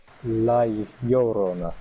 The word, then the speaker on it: La Llorona: Yeah, Crusoe, it's La Rona. pronounced La Llorona.